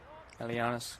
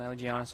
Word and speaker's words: Aligianis: Alianis, closing him down, Aligianis I should say. Pronounce the G.